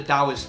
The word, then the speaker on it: Taoist: lord of the dial not to be confused with the Dow Jones index but you know the one that spelled with the T for some godforsaken reason